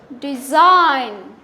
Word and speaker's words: design: doesn't pronounce also pronounce design design J is silent sign sign also the J is silent no no J sorry not j g is silent g is silent okay